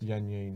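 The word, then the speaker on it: Yan Yean: Now, Yan this, how is it pronounced? Yan Yan. Yan Yan.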